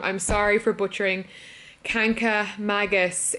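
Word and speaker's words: Kancamagus: Arcadia National Park anyway it's actually not mangas its Magus I keep saying it wrong I'm sorry for butchering kanka Magus it's just the word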